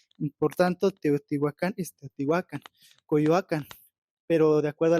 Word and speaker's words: Teotihuacán: la variante de Guerrero todas las palabras se pronuncian de manera tien un acento prosódico en la penúltima sílaba por tanto Teotihuacán tetihuacan coyuacan pero de acuerdo